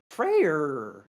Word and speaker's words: Freyr: Freyr coming in, or as you like to say, Frey with your Danish pronunciation. No, I say Frey Frey. against I say Hades. Frey like an Englishman would say Frey. What do you mean, like an Englishman? There's an R on the end.